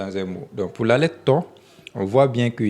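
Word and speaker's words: ط: Donc vous voyez ça écrit ici, c'est pas ta mais to. Donc c'est une lettre tique. Donc on ne prononce pas comme à cause du point, on prononce ça to et non ta.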